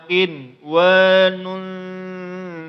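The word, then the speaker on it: قنوان: Maka jangan dipanjangkan. Min tal'iha qin wa nun daniyatun. Maka jangan dimantulkan, jangan kinwa, itu bacaan yang salah.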